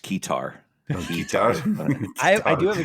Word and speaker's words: keytar: to get a satar made out ofas it's pronounced kear I I do have a kear actually no